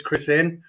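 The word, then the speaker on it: Chrisene: Ben Crisene, who I've changed the pronunciation of his name about 4 times. And you know what? I can't remember how Mark Regan was pronouncing his name in the commentary either. I think it was Crisene, he said. He was saying Crisene, yeah. I am reliably informed it's Crisene, so I'm going to stick with Crisene for now.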